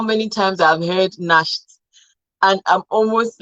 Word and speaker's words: Nacht: So C also sounds like K and H when preceded by vowels, like machen, machen, noch, Nacht, Achtung. I can't count how many times I've heard Nacht, and I'm almost like,